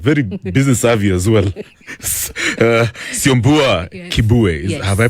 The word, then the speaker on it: Kibue: That is the one the only the very talented very business savvy as well Kibu. Have I pronounced your name?